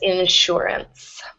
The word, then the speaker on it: insurance: like an sh um there's certain words like sugar or sure that where the S gets an sh sound or a sh sound um and this is one of those words Insurance okay thank you yeah